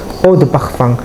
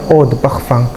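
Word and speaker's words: Eau de parfum: O the Pakfang. Oh the Pfang ini adalah tulisannya Eau the parfum ya. Bacanya O the Pfang.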